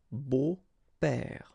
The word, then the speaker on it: beaux-pères: Okay, but then it's exactly the same thing, because you don't pronounce it. Des beaux-pères. Okay, remember the S, but then it's silent.